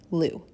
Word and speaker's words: Lugh: some traditions this day honors the celtic god liu l-u-g-h and this is the celebration of the